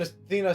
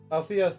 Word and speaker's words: Althea: I haven't seen Athena since. Althea since. Keep thinking her name's supposed to be pronounced Athena.